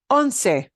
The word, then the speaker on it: once: got 11 items yeah the word for 11 is anse that's pronounced not once it looks like the English word once but it doesn't mean